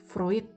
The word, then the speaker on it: Freud: sendiri tentang teorinya floridean vroid bacanya tulisannya Freud Mungkin beberapa waktu teman-teman